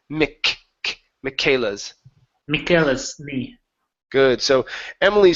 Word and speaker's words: Michaela's: And we're going to pronounce this as a K sound, Michaela's instead of Michae. Okay, it's Michaela's.